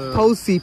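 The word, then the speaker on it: Phou Si: am still not sure if পুসি অর পুসি you know because পিএইচ ইজ is always ফৌসি পি এইচ ও ইউ এস আই আই এম বিগিউরিটি you never know how you pronounce ইট হ্যাঁ yeah but yes like is নট ফৌসি trekking এটা একটা ফৌসি হিলে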